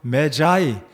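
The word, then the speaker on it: Magi: 마귀 마고 마귀라고 하는데 영어에서 메자이 m 발음으로는 자이라 하는데 그래서 박사 동방 박사라고 하는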